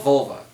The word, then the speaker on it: Volva: It's called Volva, okay? V-O-L-V-A. That's how you pronounce the damn word.